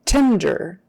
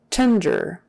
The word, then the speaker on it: tender: is your temperature okay tender tender um pronounced like tender or Tender just don't do anything else like tender tender tender and we do pronounce the d in there tender test results test